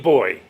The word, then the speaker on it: Boy: remember my name is I'm a boy I'm a big boy and you pronounce 1-0 the Dutch always double up on their A's and on their eyes and on their O's so I've been telling people for over 50 years it's boy not girl and it's a